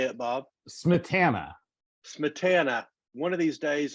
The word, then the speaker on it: Smietana: Smietana.